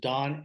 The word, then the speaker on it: Dohn: at Best Buy email my name is spelled d-o-h-n so just Don at and my company